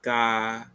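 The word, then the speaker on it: が: pronounced as ga.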